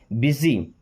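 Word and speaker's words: busy: अब इसका second form लगा है लुक्ड मींस दिखा था या लगा था या लगता था ओके बिजी इसको बुसी नहीं पढ़ते बिजी बिजी मींस क्या होता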